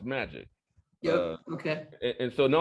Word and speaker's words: MAEEJC: and economic justice coalition so m a uh e e j c so it'll be pronounced magic yeah okay and so